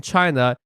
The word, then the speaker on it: 七夕: is is called in China Chi that's first tone Chi first tone shei just because I'm